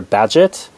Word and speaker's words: Bagehot: english constitution by walter badgett i know that last name may throw you a bit b-a-g-e-h-o-t is pronounced badget it turns out and it was